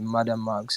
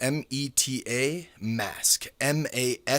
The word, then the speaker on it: MetaMask: You the things you are saying, the Madam Max. I do not know how you pronounce it, but I do not. I don't have that app. So it's Meta Meta Mask MetaMask.